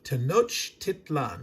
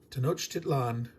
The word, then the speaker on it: Tenochtitlan: Pronounce it exactly as it's spelled, not having a problem with the CH and the T. Tenochtitlan. You just run it together. Tenochtitlan.